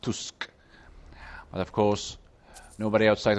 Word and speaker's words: Tusk: prime minister of poland named tusk well it's pronounced tusk but of course nobody outside of poland understands